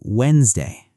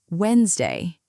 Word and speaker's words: Wednesday: One more quickly since we're here, say Wednesday. Wednesday. Wait, there's a D I'm not saying, isn't there? There is. Most people say Wednesday, not Wednesday. The first D basically disappears.